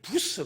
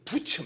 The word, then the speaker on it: 부처: 중세 종교 개혁자 마틴 부스 가 이런 말을 합니다 사실은 마틴 부처 입니다 이름 이불 발음을 잘못 하다보면 부처가 됩니다 그래서 붙여 언젠간 총신